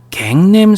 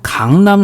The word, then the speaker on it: 강남: 갱남 스타일이라고 발음을 했습니다. 우리는 강남 스타일이라고 얘기를 하는데 처음 본 외국인들은 누구나 할 거 없이 약속했다는 듯이 갱남 스타일이라고 처음에 읽었어요.